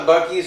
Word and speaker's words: Buc-ee's: And it's just it's not even the fact Did that they call it Buc-ee's or Busey's? Buc-ee's. Okay, they said it right.